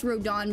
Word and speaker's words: Rodent: But yeah, in the comics, the reason why it's spelled rodent, but he says in the comics he says it's Rodon because I think he said it was French or something.